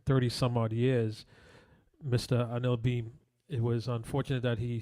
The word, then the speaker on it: Anil Bheem: Actually, last night watching the wake and so forth, it was known that he likes to go by the pronunciation of Anil Bheem is the name that he goes through.